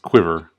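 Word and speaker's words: Cuivre: No, it looks like Curve, but it's pronounced Quiver.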